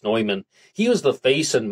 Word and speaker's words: Neuman: And he proposed that the AEN could be Alfred E. Newman, maybe pronounced Neumann.